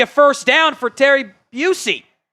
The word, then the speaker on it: Bussey: first down for Terry Busey. I think it's Busey and not Bussey. I think that's how he pronounces it.